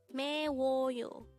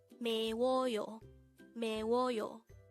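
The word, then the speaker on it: 매워요: May woyo this is pronounced as a three-syllable word the first syllable is me second syllable is and third syllable is Yo pronounce it in me me wo yo the Korean word is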